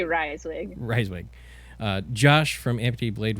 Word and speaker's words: Reiswig: It's Reiswig. Just say Reiswig.